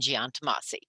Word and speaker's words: Giantomasi: The firm's name is pronounced Chiesa, Shahinian, and Giantomasi.